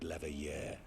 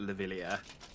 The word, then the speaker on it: Leveilleur: You truly are a sheltered child, Leveilleur. Every time I forget that that's how that's pronounced, and pronounce it Levillier.